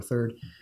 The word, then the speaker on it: third: England there were these two different ways of pronouncing third it was either thrid or third and there was an